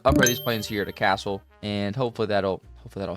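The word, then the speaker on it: Kassel: these planes here to castle and hopefully that'll hopefully that'll help out a little bit. I'm going to get so many comments in the comment section being like, "Hey, idiot, it's pronounced Cassell."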